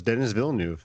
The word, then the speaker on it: Denis Villeneuve: As far as I know, it's Denis Villeneuve. Yeah, so no. It's Denis Villeneuve.